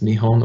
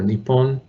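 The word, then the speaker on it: 日本: name for their country which is nihon or nippon depending on the pronunciation or region but so the element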